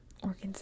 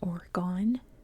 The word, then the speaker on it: Oregon: But Oregon's a neat place. And yes, that is how you pronounce it. If you're not American, it's not Oregon, it's Oregon. Like an organ in your body.